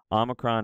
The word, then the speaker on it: omicron: The difference here, omicron is aw, omega is o, o, right?